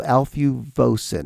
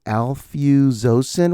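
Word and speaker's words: alfuzosin: It was called Alfuosin. Nope. Alfosen. Why are these meds the toughest words to pronounce?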